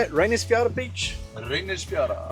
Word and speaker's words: Reynisfjara: Reynisfjara. Reynisfjara, that's pretty close, pretty close.